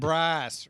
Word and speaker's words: Bryce: some mermaids they've recruited bryce rhymes with rice no breaks bryce bryce guy times with rice oh boy anyway they're